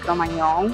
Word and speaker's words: Cro-Magnon: en una localidad francesa, Cro-Magnon, se pronuncia, no es con ñ, es con gn, y bueno, de ahí